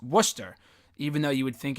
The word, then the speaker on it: Worcester: turnout Worchester or warchest or whatever that's how it's spelled wor CH e st ER you would think it's Worchester but it's pronounced Worcester even though you would think it would be